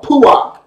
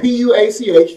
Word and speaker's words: puach: In Ezekiel chapter 21, verse 31, Yah again tells us that he will blow, or puach. It's spelled P-U-A-C-H, the Hebrew word puach, P-U-A-C-H.